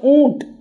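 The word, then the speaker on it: ऊँट: So, it is pronounced as oont. Oont. Or you can say as a double O also you can use. Double O also you can use oont. But the nasal word is there.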